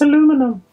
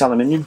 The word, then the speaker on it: aluminium: it as aluminum then changed to aluminium it's aluminum therefore that is why uh there is some confusion about the pronunciation of it neither of us are wrong because at one point it was called aluminum it's aluminium but it was changed to aluminium which is